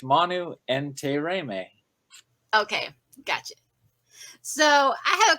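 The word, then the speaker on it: Manu Intiraymi: do an interview with manu entei reimei today ah so i said it wrong so my new instantaneous correct so it's manu and te reime okay gotcha so i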